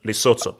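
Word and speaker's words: Lesotho: is I think it's loto the the H is silent loto it's not I was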